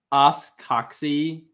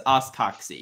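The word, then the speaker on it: os coxae: It's pronounced oscoxy.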